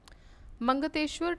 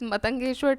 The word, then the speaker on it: Matangeshwar: Mangateshwar temple at Khajuraho is dedicated to, now sorry, I'm so sorry the pronunciation got wrong, it is Matangeshwar temple, not Mangateshwar. So Matangeshwar temple at Khajuraho